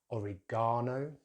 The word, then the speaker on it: oregano: So in British English, oregano, oregano, with stress on that gar, that third syllable, oregano, oregano. Americans use some very different sounds there. They start with the oregano, oregano, with stress on that second syllable.